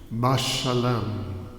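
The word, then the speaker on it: משלם: There are 4 consonants, 4 letters: Mem, Shin, Lamed, Mem. And it's pronounced Mashalem.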